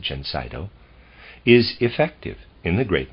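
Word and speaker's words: Gencydo: manufacture under the name gensaido and i'll spell that it's g e n c y d o i'm going to pronounce it gensito is effective in the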